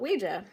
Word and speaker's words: Ouija: wanted to be called, and it spelled out Ouija, or that's how you pronounce it.